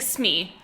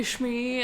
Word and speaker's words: Smee: I was like, it's not Shmee, it's just Smee. It's very, very simple. But that's fair. He was like, Shmee. And I was like, you put 2 syllables on a 1-syllable name.